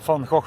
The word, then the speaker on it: Van Gogh: Behind me, the Van Gogh Museum. That's how you pronounce it. Unless you're from the north, then it is indeed Van Gogh. I am from the north, but I've been in the south long enough to have the soft G going on.